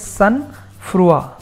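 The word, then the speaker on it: sangfroid: And a very, very important synonym of unflappable is sunfrua. Let's check this word further. Sunfrua. As a noun, you see the pronunciation I've mentioned here. It is sunfrua.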